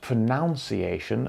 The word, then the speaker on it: pronunciation: This word is pronunciation. Pronunciation. It is not pronunciation, as many people say. Even English teachers make this mistake. It is pronunciation. The noun sound in pronounce has changed to a nun sound, pronunciation.